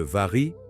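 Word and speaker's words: vary: Le vari, prononcé var, le riz.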